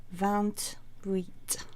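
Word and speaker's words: vingt-huit: wheat and that one the van you can pronounce the T on the end because the H of wheat here is considered to be a vowel so you can slide in that t29 is Val nerf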